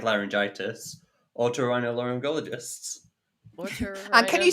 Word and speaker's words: otorhinolaryngologist: Otorhinorali. Give me a second. Otorhin. Okay, let's stop it there, because this is painful. Producer Will, do you know how to pronounce it? Do you mean otorhinolaryngologist?